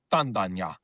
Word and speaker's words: Tandanya: But Tanda, Ganya together is pronounced Tandanya, which means the rock